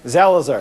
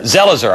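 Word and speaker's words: Zelizer: how how do you say your last name zelzer zelzer I'm sorry he's a professor at Princeton University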